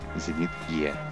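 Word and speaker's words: Зенит-Е: In Russian it is pronounced as Zenit E.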